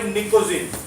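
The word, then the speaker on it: pnictogen: नाइट्रोजन group को बोलते हैं भाई निकोजिन या फिर निक्टोजिन, इसमें पी साइलेंट होता है।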